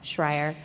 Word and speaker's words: Schreier: name entitled but shreyer is a passionate i said it wrong schreier is a passionate volunteer